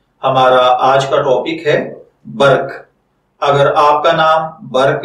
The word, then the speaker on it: برق: ہوتے ہیں وہ ہیں بے زبر بر اور کاف ساکن برق، جبکہ انگلش میں اس